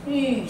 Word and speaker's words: 女: It's umlaut, it's nü sound, it's not wu sound, okay?